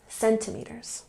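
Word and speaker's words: centimetre: measurement was 7.62 CM put the emphasis here on the first syllable centimet or he ran the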